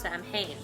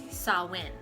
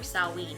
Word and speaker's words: Samhain: it's not actually pronounced samhain the word itself is gaelic from ireland ireland scotland area uk present day uk so it's a gaelic word um and it actually is pronounced sawin or salween there's two different variations